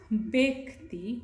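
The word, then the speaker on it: ব্যক্তি: So sometimes this is a confusing sign in Bangla, this one, this wave. Sometimes it can be pronounced as a, not ya though, it's like a as in hat, a sound as in hat, right? So it can be pronounced as like that, but here it is pronounced as a. So this is a, like bed. Sometimes this sound can be pronounced as a, as in bed.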